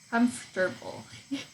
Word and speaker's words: comfortable: What if I cut out the middle parts? You know, if I set it a bit more, let the syllables run together. Comfortable.